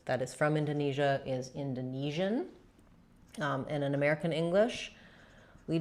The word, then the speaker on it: Indonesian: So a person or something that is from Indonesia is Indonesian.